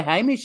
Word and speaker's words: Hamish: that Americans might know about so no it's pronounced Hamish because my godson in America his mum's Aussie